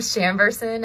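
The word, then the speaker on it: Chambourcin: Lindsay, how do you pronounce that? It's a blend of Chamberson and Merlot.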